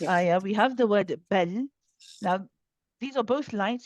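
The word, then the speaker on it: بل: We do not say bala. Bala, if you hear that bounce, it shouldn't be there.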